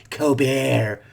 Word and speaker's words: Colbert: That's how his sister pronounces her name, Colbert, not Colbert.